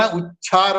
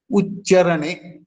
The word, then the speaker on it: ಉಚ್ಚರಣೆ: ಯಾವ ರೀತಿಯಾಗಿ ನಾವು ಉಚ್ಚರಣೆಯನ್ನು ಕೆಲವು ಜನ ಉಚ್ಚಾರ ಅಂತಾರೆ ನೋ ಉಚ್ಚಾರ ಮಹಾಪ್ರಾಣ ಅಲ್ಲ ಅದು ಉಚ್ಚರಣೆ ಅಲ್ಪಪ್ರಾಣ ಚಕ ಚರ್ತನರ ಅಲ್ಪಪ್ರಾಣಕ್ಕೆ ಮಹಾಪ್ರಾಣಗಳು